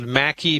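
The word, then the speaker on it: Maqui: Mackie plus and you it's a funny word you spell it m a like apple Q like Queen I M A Q UI I left out the U M A Q UI Mackie plus it's a liquid I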